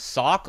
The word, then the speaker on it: Socke: I'm trying to do the German justice as that is how he pronounces his name.